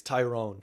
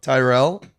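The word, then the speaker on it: Tyerell: I think it's Tyrone. Tyrell? There's an L in there.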